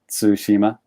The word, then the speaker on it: Tsushima: learning japanese is um if you say the word like ends with ts like cats like say cats in your head and then say the word that helps with pronunciation so like cats tsushima it's like it's the end of cats but at the beginning of the word okay that's that's interesting